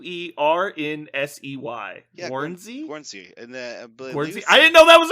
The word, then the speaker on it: Guernsey: philippines the united states you said guarantee it's guernsey guernsey is how you say it yeah it's it's it's